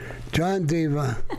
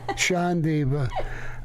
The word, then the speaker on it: Sean Deaver: And he corrected the pronunciation of his name, Sean Deaver. John Deaver, Sean Deaver.